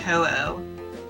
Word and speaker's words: Ho-Oh: It's H-O-U-O-U. Oh, yeah, well, H-O. It's an H-O, then a U, then an O, then a U in Japanese. Ah. For the kana. Hmm. Which is, of course, pronounced Ho-Oh.